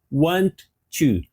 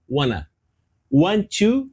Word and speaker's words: want to: verbo querer want to aqui você tem duas duas formulas você pode pronunciar want to want to ou você pode fazer a junção disso uma junção informal no inglês falado e f falar assim ó One one to então no inglês informal